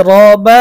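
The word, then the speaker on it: رَبّ: বালাম জের বিল এইযে রবা জবর রব র এর মধ্যে জবর রয়েছে এখন এই রটাকে আমরা চিকন পড়বো নাকি মোটা পড়ব এই রটাকে আমাদেরকে মোটা করে উচ্চারণ করতে হবে রব রব এই রকে যে মোটা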